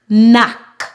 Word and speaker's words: knock: have a silent k whenever we have a combination of K and N together at the beginning of a word we remove move the